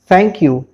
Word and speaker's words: thank you: हम कहते हैं थैंक यू या थैंक्स, तो याद रखिए इसकी जो एक्यूरेट प्रोनाउंसिएशन है वो है थैंक यू।